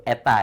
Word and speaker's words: eta: Kalau ada efisiensi ya, ini dibacanya efisiensi ya, ini eta simbolnya. Dibaca kalau simbolnya itu eta ya.